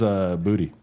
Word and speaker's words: Boutte: His name is Kayshon Boutte, right? Mm-hmm. That's how it's pronounced. Booty. It's actually pronounced booty. Yeah, it's and booty. He said it himself that it's pronounced Kayshon Booty.